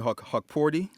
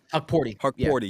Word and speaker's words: Hukporti: I mean, you've been saying I don't want to pronounce his name for me. Hukporti. Hukporti.